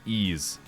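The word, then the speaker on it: Ys: because they also make ease the four ease players in my audience are impressed I know what ease is and two of them are looking up if that's how it's actually pronounced e ease is more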